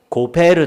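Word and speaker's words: גֹּפֶר: 고페르 나무죠. 역청을 의미하는 히브리어 단어가요, 이와 유사한 발음인 코페르입니다.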